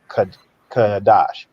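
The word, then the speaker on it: חֹדֶשׁ: it's the word uh kodesh or kadash as in the Paleo all right it's pronounced uh kadash and when you is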